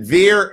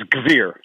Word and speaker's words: Gvir: Ben, is it Veer or Gvir? It's Gvir. Gvir.